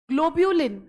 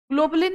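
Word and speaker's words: globulin: ग्लोब्यूलिन, ग्लोबुलिन नहीं है, ग्लोब्यूलिन, GLO, ग्लोब्यूलिन।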